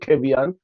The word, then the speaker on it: Kevian: I saw me pronounce it Kevian.